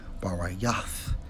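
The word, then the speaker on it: ברית: All right, for a covenant, Strong's H1285, pronounced as Barayath, which means what?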